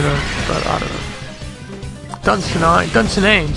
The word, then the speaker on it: Dunsinane: I think that prefix right there sounds Scottish, like Dunsinine. You know, but I don't know. Dunsinane, sorry, Dunsinane, not Dunsinine.